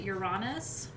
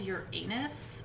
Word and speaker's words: Uranus: chart um so uranus some people pronounce it uranus pretty much nobody says your anus which is good because i don't know why you'd want to say that unless you know